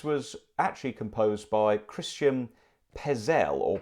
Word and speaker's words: Petzold: family that this was actually composed by Christian Pez L or Pet Zoll as it's written but pronounced Pez L but anyway but it's a beautiful piece and